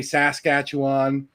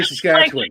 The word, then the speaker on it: Saskatchewan: Um I don't say Saskatchewan or there's no Juan. It's actually win.